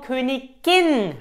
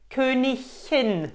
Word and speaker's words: Königin: Aber für Königin ist nur Königin richtig. Königin. Nicht Königin. Nein. Falsch.